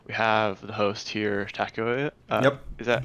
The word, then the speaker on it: Takeoi: have the host here taco yep is that how i pronounce it uh yeah a lot of people pronounce it weird but yeah taco is as close as you get yeah okay cool uh